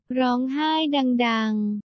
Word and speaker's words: ร้องไห้ดังๆ: Executive produced by your boy TJ, and I want to know how to pronounce the title in Thai. Rong hai dang dang.